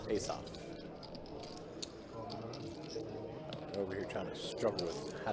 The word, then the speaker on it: Asaph: All right, sevens with a deuce to pair for, how do you pronounce his name? Is it Asaph? Ace-off. Asaph.